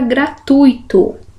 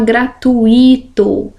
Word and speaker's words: gratuito: Então, olha lá, nada de falar gratuito. É junto aqui, tá, gente? É gratuito. Gratuito. Então, aqui eu tenho um ditongo. O U e o I não são separados. Se fosse, teria que ser acentuado, porque o I seria tônico.